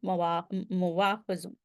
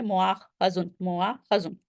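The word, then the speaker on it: مؤاخذ: और जो अ, वो है इस्म ज़र्फ़ है वो इस्म मफ़ूल के वज़न पे मुवाख़िज़ सॉरी वाव बार-बार प्रोनाउंस हो रहा है, असल में मुआख़ज़ुन, ठीक है?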